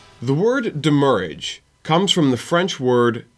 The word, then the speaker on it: demurrage: pronounce it and also based off of the way that the original French word that it is based off is pronounced it is demurrage damage so it originated